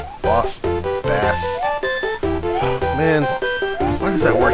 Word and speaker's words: Boss Bass: when I need to usually when I need to say it is base but this time it's actually bass but boss bass now